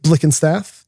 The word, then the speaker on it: Blickenstaff: I'm attorney Jerry Paresi and special guest today is Jake Blick and Staff.